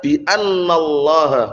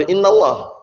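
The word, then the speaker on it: بأن الله: Dzalika bi annallaha huwal haqq. Bi annallah bukan bi innallah. Nah, ba huruf jar atau bukan? Huruf jar. Makanya bacanya anna.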